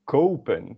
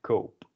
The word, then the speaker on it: koop: But no, we want to conserve this vowel sound because kopen, so it's very different than kop. This is pronounced kop. So we add another O, kope, ik koop.